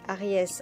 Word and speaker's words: Aries: Notons que le signe astrologique du Bélier se dit Aries en anglais et que la prononciation ressemble fortement à Arès, le dieu de la guerre chez les Grecs.